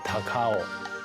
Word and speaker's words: 高雄: 高雄因为日本音读起来读作 Takao，所以搭狗 Takao 音就很接近了。